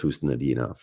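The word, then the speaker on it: Khusnutdinov: Phonetically is a problem. So I looked at him like, but I knew it's Hustadinov.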